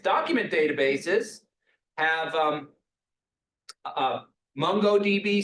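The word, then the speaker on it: MongoDB: databases have um uh mongod DB sometimes pronounced mongod DB is is a really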